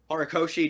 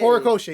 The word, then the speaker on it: Horikoshi: I don't know how Horikoshi does it. I'm sorry. I am very white. Oh, you mean the pronunciation? No, you actually did it Yeah. right. Yay! Horikoshi.